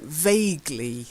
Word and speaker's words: vaguely: words first okay so vaguely it's a silent e to be vague that's